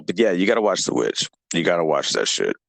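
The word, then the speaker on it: The VVitch: The Witch. Okay, I'm going to send you a link to it. It's spelled with 2 V's, but it's the Witch or Witch.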